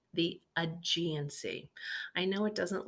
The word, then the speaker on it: Aegean: On the east coast is what's pronounced the Aegean Sea. I know it doesn't look like it says Aegean, but the way we pronounce it is Aegean. The E is kind of silent.